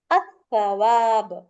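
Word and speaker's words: التواب: வந்து நீங்க உச்சரிக்க கூடாது அப்போ அல் பிளஸ் தவாப் அதை நீங்க எப்படி ரீட் பண்ணீங்கன்னா அஸ்தவாப் சரியா அப்போ இந்த லாம் சைலெண்ட் ஆயிரும் அதே மாதிரி அல் பிளஸ்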